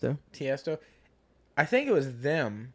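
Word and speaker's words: Tiësto: I think it was Testio. Is that how you pronounce it? Tiesto.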